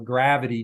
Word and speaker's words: Gravyty: We have been, on the positive side, we have been using We have a vendor, for example, Gravity, Gravyty is the way they spell it.